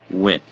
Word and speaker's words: Wynn: Dustin Wynn. Dustin Yeah, that's how you pronounce that name. Dustin Wynn. Win.